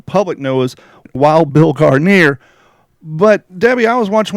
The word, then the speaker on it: Guarnere: I pronounce my last name Guarnere. Now, here's the background on this. My grandfather, we have papers where my grandfather was Guarnieri, like the violin.